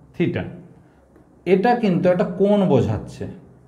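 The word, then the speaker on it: theta: সরণের সঙ্গে বলের কোণ থিটা, এই সিম্বলটার নাম হচ্ছে থিটা, উচ্চারণ থিটা।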